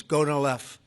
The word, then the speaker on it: Gonal-f: So it's Gonal-F. Is that a proper pronunciation? Very Close well enough, done. right? Very well done. Gonalev.